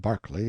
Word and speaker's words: Berkeley: Marjorie Banks sellers Viscount Berkeley of Charles mundely Castle Warwickshire pronounced kacubri slanover Marsh Bank sellers Viscount Barkley of Chumley Castle Yorkshire he